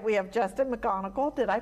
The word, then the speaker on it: McGonigle: So left to right, we have Justin McGonigle. Did I pronounce that right?